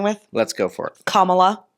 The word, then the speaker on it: Kamala: let's go for it Kamala her name is kamla this is not hard y'all so okay so the